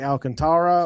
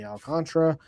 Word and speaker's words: Alcantara: Spencer Strider against and I never know how he likes his name pronounced but Sandy Alcantara or Sandy Alcantra however you prefer to pronounce it.